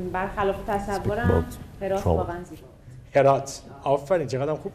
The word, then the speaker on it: هرات: هرات. آفرین. چقدرم خوب تلفظ می‌کنن.